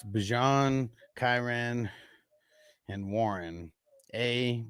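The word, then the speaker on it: Bijan: Bjon, that's how you pronounce. That's how he said he wants. That's how he said he pronounces his name. Bjon. So it's Bjon, Chiran, and Warren.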